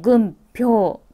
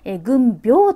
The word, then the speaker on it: 軍兵: をぐっ今日というふうにパピプペポの音で軍票と読む場合もあるそうですが軍兵と今しておきますうんうんか